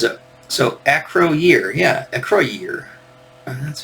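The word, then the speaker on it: Acroyear: right there is a so Acro year yeah Acro year and that's how you pronounced it um my favorite figure they had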